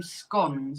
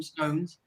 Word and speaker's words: scone: people still call them scones but we call them say SC yeah scon scon I made scun I made triangle on that's a bit thing Dana like if you're POS you say scones but if you're common